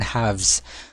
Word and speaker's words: halves: Now, we have 7 over 2 or read as 7 halves. 7 halves. Ganito yung spelling ng halves, ano? Silent L kapag binasa.